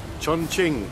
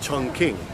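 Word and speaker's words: Chongqing: feels better you can how do we pronounce our city chong ching CH Ching the old days we used to call it Chun King but they save that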